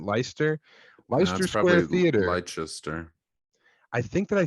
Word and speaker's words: Leicester: Leicester Square Theater l-e-i-c-e-s-t-e-r I think you pronounce it leister I think that I